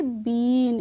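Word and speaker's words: been: हमारा new rule है जब भी किसी वर्ड में लास्ट में ई आए या फिर बीच में डबल ई आए तो उनका भी प्रोनंसिएशन हम करते हैं बड़ी ई की मात्रा ठीक है जैसे है मान लीजिए बी डबल ई एन तो इसको हम कैसे पढ़ेंगे इसको हम पढ़ेंगे बीन इसको हम बी एन नहीं पढ़ेंगे ऐसे ही हम और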